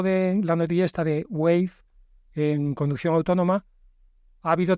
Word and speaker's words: Wayve: Hablando de conducción autónoma, con estos nuevos Wave que por cierto se escribe no como Wave Onda en inglés, sino como Wave con una Y en medio, o sea, WAYVE.